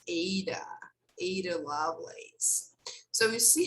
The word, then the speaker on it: Ada: subscribe sorry actually her name is pronounced aydah ada lovelace so you